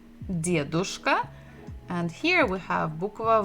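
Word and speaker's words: дедушка: We have dia, d, dedushka, and here we have bukva v, devushka. And the stress is also the same syllable, the first. Dedushka, devushka.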